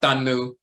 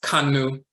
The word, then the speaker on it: kanu: as a th but in the Coptic dialect you'll see this symbol is the k sound so that's not tanu that's kanu to count to reckon the